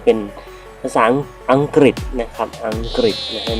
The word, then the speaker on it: อังกฤษ: นะ ครับ นะ นล ก็ มัก จะ พูด ว่า ภาษา อังกอ นะ ครับ ซึ่ง จริง ๆ แล้ว ก็ คือ ภาษา อังกฤษ นั่น เอง นะ ครับ เรา ออก